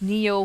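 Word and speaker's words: Nioh: I guess it's supposed to be Nio, but I've heard it pronounced Neo for like centuries.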